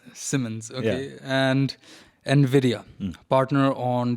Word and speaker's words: Siemens: and it did not sound right. Yeah. And I did it the first time. But it's Siemens. Simmons, okay, and NVIDIA, partner on the industrial metaverse.